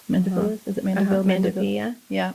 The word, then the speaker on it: Mandevilla: I had 2 mandevilles. Mandevillas?